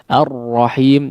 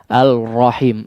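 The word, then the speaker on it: الرحيم: tidak terlihat ini artinya huruf lam masuk sempurna ke dalam huruf road ar-rohim jadi tidak dibaca alrohim Al rahimnya sama sekali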